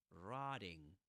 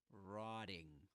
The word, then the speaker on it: rotting: This flap T, flap T in American English, rotting, rotting. Instead of saying rotting, rotting. That's what you will hear in standard Southern British English. Rotting, rotting. Pronouncing that true T, saying rotting, not rotting, rotting.